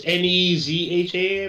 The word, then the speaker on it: Nezha: So I think it's pronounced Neza. It's Nezha, I believe.